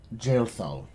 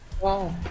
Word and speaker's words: Jaethal: You may call me Jailthal. And I'm gonna spell that out, and you guys can figure out how to fucking say that properly. Said jail. Jaethal.